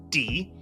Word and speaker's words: 的: or suspicion and in in this case it's pronounced D and really this is the only word d